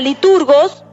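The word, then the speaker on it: λειτουργός: de ministro, que es la palabra liturgos, que se la pronuncia como liturgo.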